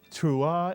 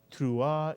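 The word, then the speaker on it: תרועה: by the he which is silent at the end of a word ah put the word together and you get tra or tra mitsu and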